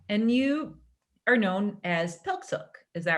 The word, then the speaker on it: PIQSIQ: And you are known as PIQSIQ, is that right? Yep, Yeah. nicely pronounced.